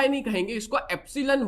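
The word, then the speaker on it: epsilon: तो income elasticity को denote किया जाता है एप्सीलन y के साथ। ठीक है? और इसका फार्मूला स्पेलिंग भी मैं आपको बता देता हूं।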